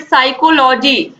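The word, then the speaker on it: psychology: Which letter is silent in the word साइकोलॉजी। तो P silent है इसमें, आप सभी को पता है।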